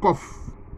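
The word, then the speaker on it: Qof: La 19e lettre, qui est la lettre Kof. La lettre Kof. Qui s'écrit avec Q-O-F.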